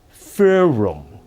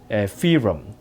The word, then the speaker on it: Ferrum: from Poland fur-rum, fee-rum...... Ferrum Ferrum ......